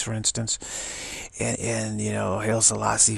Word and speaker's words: Haile Selassie: And you know, Haile Selassie from, that's how you pronounce his name, from Ethiopia, was this